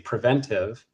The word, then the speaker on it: preventive: If you just ask me straight up how to say it, I would say preventive, and that the extra TA is an unnecessary syllable to drop in there.